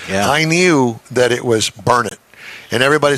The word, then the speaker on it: Burnet: I say it right is it burnard Texas yes it's burn it don't ever say Burnet there are people around here will get after you about it I know and see